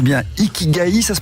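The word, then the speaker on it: 生き甲斐: Vous proposez aux personnes de révéler leur, je ne sais pas si je prononce bien, Ikigai, ça se prononce comme ça ? Ikigai.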